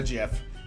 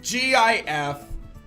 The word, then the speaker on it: GIF: I will find the gif.